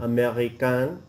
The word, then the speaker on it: américain: Américain, américaine. Oui. So the A-I-N sound, you don't pronounce the N at all.